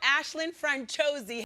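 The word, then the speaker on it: Aisling Franciosi: Franuisi. Please welcome Ashlin Franchosi.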